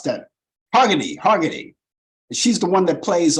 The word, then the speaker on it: Hargitay: How do you pronounce that? Hargitay.